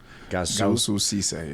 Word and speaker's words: Goussou Cisse: Goussou Cisse.